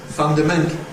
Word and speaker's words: fundamental: So the word is not mental, it's fundamental. And it has really just the same stress pattern as a phrase like very basic, fundamental, very basic. You can hear it's the same rhythm.